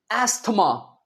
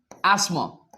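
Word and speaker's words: asthma: नहीं अस्थमा नहीं है ये। असल में इसके दो उच्चारण हैं। एक तो है एस। इसे हम स बोलेंगे। स एस्मा। एक तो स की आवाज़ निकलेगी। ये टी एच नहीं कहेंगे। एसमा स्पेलिंग में लिखेंगे एसमा।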